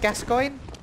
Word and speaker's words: Gascoigne: the people that struggle it's pronounced gascoigne that's how you pronounce his name I've heard every single